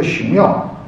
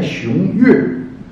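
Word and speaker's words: 熊岳: 区有一个熊庙，这个正确的发音应该念熊岳，但是我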